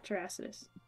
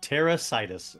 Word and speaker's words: Terrasitus: It Terrasitus? Will attack. Yeah, Terrasitus. It'll attack. Like Terrasitus. It's grass. Terra and Situs. Terrasitus. Terrasitus?